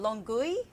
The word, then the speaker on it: Longueuil: making its way through Varennes, Boucherville, Brossard, and Longueuil, I think is how you say that.